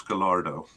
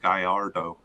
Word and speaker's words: Gallardo: gallardo and just jesus gallardo so actually uh uh osvaldo rodriguez started game one uh but gallardo was subbed in for him i think it's pronounced guyardo but um uh was subbed